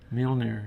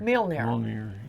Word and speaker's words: Mjolnir: I have never known how to pronounce Thor's hammer's name. Mjolnir. Mjolnir.